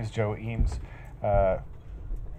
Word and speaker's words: Eames: my name is Joe eem uh I don't uh fault him for the uh lack of American pronunciation because most people in America don't know how to say my name my last name right so uh no big